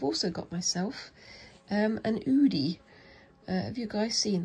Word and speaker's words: Oodie: excuse me I've also got myself um an Udi uh have you guys seen those I do love wearing oversized hoodies but it's udies um spell it's o d i e um